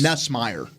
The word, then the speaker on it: Nussmeier: It's Nussmeier.